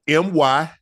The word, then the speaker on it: myrrh: It would be M-Y-R-R-H.